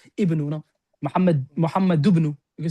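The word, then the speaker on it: محمد: Muhammadu. Muhammad. You don't say Muhammadu. No, Muhammad.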